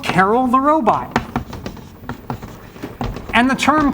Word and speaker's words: Karel: named after Carol and some people say Carl which is kind of actually closer do I believe it